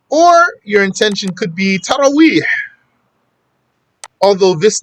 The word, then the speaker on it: Taraweeh: They say Tarari or something, Tawari, or all kinds of, I don't know even how they say it. So it's Taraweeh, Taraweeh.